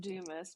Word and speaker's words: Dumas: It's pronounced Dumis, but whatever.